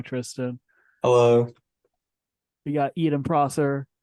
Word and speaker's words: Prosser: hello we got eaten Prosser say hello is that how you pronounce your last name that is how you pronounce it hi everyone oh I've been saying Pro sir I need to change